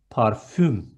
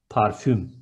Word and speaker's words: parfüm: Next one, perfume is parfüm with ü, parfüm.